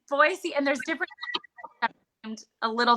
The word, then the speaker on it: Boise: i've never been to boise which for those of you who don't know it's boise and they know you're out of state so it's boise and there's different a